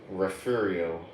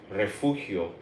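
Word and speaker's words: Refugio: Refurio. Or if you're Mexican or you speak Spanish, it would be called Rafuio.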